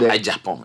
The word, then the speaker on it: Agyepong: maybe because there's another Agyepong in the race. Yeah, people keep spelling my name wrong. This is correct. So A-G-Y-E as in Eric. It's not Agyepong, it's Agyepong.